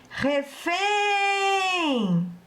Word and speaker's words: refém: Se eu chamar a palavra refém para descobrir qual é a sílaba tônica, eu vou dizer refém. E sei que a sílaba tônica é o fém.